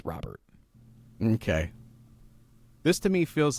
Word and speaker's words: Robert: Jim Thome here, but he said it's pronounced Robert.